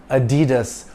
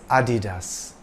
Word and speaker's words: Adidas: part of his surname it's not pronounced Adidas or Adidas it's Adidas dasler got American Sprinter